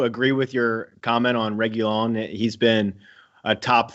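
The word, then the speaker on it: Reguilón: Reguilon. Reguilon? Mm-hmm. Reguilon.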